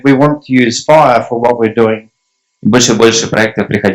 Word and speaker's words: FHIR: And you know that in English, FHIR sounds like fire, and I thought that was a pretty poor joke when we first did that. In English, FHIR sounds like fire.